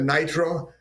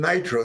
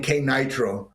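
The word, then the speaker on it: KNITRO: It's called Nitro, so let's put a K there, which in English is silent. But of course, for many people in Europe, it's not silent. So they started calling K Nitro and stuff like this.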